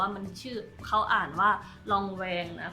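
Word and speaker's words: Lanvin: เป็น กับ ไ ตัว นี้ ก็ คือ ยี่ห้อ รอง แวง นะ คะ คือ ครั้ง ที่ แล้ว อ่ะ น เรียก ชื่อ ไม่ ถูก แล้ว ก็ มี คน ใจ ดี มา คอมเมนต์ บอก ว่า มัน ชื่อ เ้า อ่าน ว่า ลองแวง นะ ก็ ขอบคุณ มาก ๆ นะ คะ ก็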